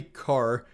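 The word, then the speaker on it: Kaur: i am and they told me it was pronounced car so we're gonna say car if that's not right i am sorry guys i'm really trying here but hattie carr and the dredge so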